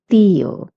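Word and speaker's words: tía: And put an accent on the I and you have to stress on it. So theoa so means nephew.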